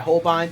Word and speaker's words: Holbein: This is by Holbein, which I've been pronouncing as Hoblin this whole time, so pick that up along with this book, How to Draw Animals.